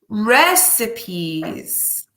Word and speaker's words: recipe: our focus activity is recipes so this word is a bit funny with pronunciation but it is recipe recipe recipes in this focus activity